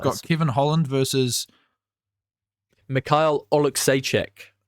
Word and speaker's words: Oleksiejczuk: Mikhail Oleksiejczuk. Is that it? That's how you say it, yeah.